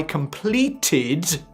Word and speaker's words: completed: I completed, this time with the extra syllable, the project ahead of schedule or schedule.